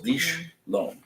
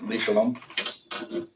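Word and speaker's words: לשלום: some people will pronounce it like li shalom. It's kind of a who's your teacher Right. situation. The way this course teaches it is it's when it's alone in the middle of the word, it's a breaking point for that word.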